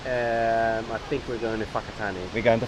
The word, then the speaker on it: Whakatane: I think we're going to Whakatane. We're going to Whakatane.